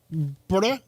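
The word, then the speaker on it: birra: There's two Rs. There's only one R. No, this is two. says br I thought that's how you were. Honest to God, I thought that's how you were saying already. I'm like, where the is the B in the Right. Exactly. B I R R A.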